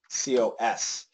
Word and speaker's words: cos: C-O-S. And it's cos, cos, because their pronunciation is different.